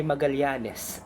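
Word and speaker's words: Magalhães: Ang Magalyanes ay nagmula sa pangalan ni Ferdinand Magelan na Magalyan kung banggitin o bigkasin sa salitang Portugues.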